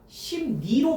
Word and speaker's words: 심리: 심리는 리을 리을이 리을이 앞에 음은 미음의 영향으로 앞에 음은 미음의 영향으로 콧소리 비음인 니음으로 바뀌었죠. 심리가 심니로 바뀌어 있잖아.